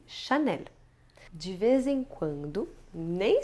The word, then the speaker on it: Chanel: Accor aquela famosa regionais quando a palavra se termina com l e isso também pode acontecer é o caso de L'Oréal e chanel de vez em quando